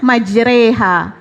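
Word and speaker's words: مجراها: goyang kompak makanya itu majreha itu dibacanya majreha Nah karena begitu goyang ko ombak makanya dari cara bacanya juga maj reha berlayar ya berlayar namanya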